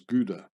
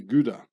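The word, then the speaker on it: Guede: probably a German name so you have to pronounce his guda Rudy guda just like kcha and a German name is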